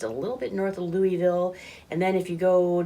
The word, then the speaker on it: Louisville: Sorry, I said it wrong. It's Louisville. Oh, Louisville. Louisville. Lerville? So yeah, something like that.